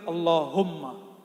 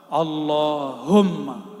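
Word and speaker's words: اللهم: bikin bergetar itu zikir Allahumma coba sama-sama baca allahum yang benar bacanya sama-sama Allahumma lagi Allahumma Allahumma itu bulu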